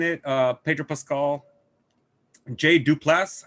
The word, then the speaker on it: Duplass: uh pedro pascal jay duplass i think that's the way you pronounce his last name duplass that's mark